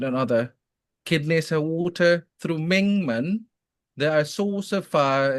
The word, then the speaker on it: Mingmen: Did I pronounce it right? Yeah, Mingmen.